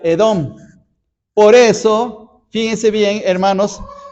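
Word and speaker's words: אדום: guiso rojo la palabra rojo la palabra rojo en hebreo se pronuncia edón por eso fíjense bien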